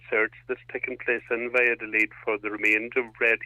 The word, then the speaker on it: Valladolid: Well, from my Spanish is limited as well, but yeah, you pronounce it Valladolid.